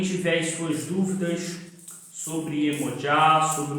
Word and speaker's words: Yemoja: dessa divindade, o nome Iemoja, que é o nome da divindade. Aqui no Brasil é conhecida como Iemanjá, mas a pronúncia correta do seu nome é Iemoja.